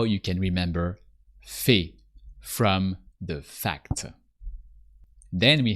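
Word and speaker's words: fait: automate El Fe ill fee Fe so that can seem a bit wired the first time but a i sounds e o e so look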